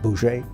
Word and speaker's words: Bose: There were the Gandhi types, who were nonviolent, and then there was a Chandra Bose, who it's spelled B-O-S-E, but it's pronounced something like Boucher.